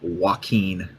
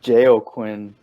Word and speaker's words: Joaquin: The first movie that we'll talk about is that new Joker movie with Joaquin Phoenix. That's how you say his name, right? I think it's Joaquin.